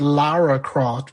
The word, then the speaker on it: Lara Croft: of trees and no you said her name wrong she is lara croft because when they created her they thought that stupid americans couldn't pronounce a british laura so her name is